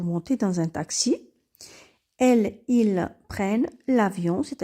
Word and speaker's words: prennent: nous donne elle prenne lorsque le E se trouve devant deux consonnes il se prononce et on dit ils prennent et pour les exemples